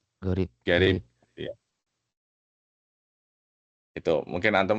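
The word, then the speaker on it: غريب: Qarib, garib sama, cuman cara bacanya aja sedikit berbeda.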